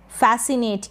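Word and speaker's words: fascinate: Last में ई है, इसका उच्चारण नहीं होगा।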